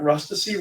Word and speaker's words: Rustici: If anybody ever asks you how to pronounce Rustici, you just tell them that Rustici rhymes with ecstasy.